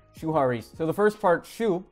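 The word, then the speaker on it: 守破離: You know, in Japanese it's actually pronounced Shuhari.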